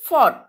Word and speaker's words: fought: Cot, bought, taught, fought. इसमें बेटा GH silent है ना? GH की साउंड नहीं आ रही है. So we will pronunciate it like caught, bought, taught, fought.